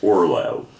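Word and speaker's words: Orloj: J, but it's pronounced Orlay or Orlay, I think, is how you pronounce it. Orlay or or it was Orlay or Orlay, but either way, J was a Y.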